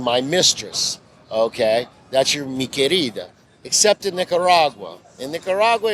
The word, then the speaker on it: Mi Querida: First off, it's Mi Querida. Mi Querida.